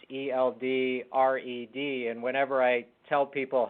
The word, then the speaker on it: Eldred: It's Eldred, and whenever I tell people how to spell it, that's what I say. I say ELD and then red, like the color.